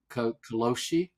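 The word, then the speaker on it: karoshi: name for uh death by overwork it's called kosi I've learned to pronounce it correctly kosi means death from overwork and people in their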